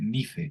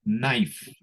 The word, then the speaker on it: knife: No se lee nife, no. Ni canife, ni nife, nada. Esto significa cuchillo y se lee knife.